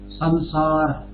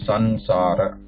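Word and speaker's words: संसार: It should not be sansara. Many times this is incorrectly pronounced. I have heard, not by student, but generally in the lectures and other. Just because from different backgrounds, like sansar, like that. But it is samsara, samsara.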